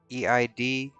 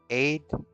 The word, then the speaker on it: Eid: And Incognito says, our version of Black Friday is markets and shops right before uh, EID. Oh, Aid. It's a religious holiday. I don't know how to pronounce it.